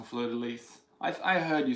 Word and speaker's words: fleur-de-lys: week and Elizabeth Fraser you pronounce the S on fleur-de-lys I heard you say